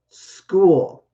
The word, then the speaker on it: school: place place right okay school school and this is kind of like a sk sound so even though you say ch you might be thinking like cheddar or checkers no in fact i